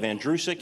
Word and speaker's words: Andrusik: The last name is pronounced like the boy's name, Andrew, who is sick. You run it together, you have Andrusik, it's that simple.